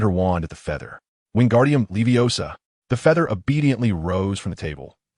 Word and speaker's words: Wingardium Leviosa: It es Wingardium Leviosa, not Wingardium Leviosar. The pronunciation requires clarity and precision."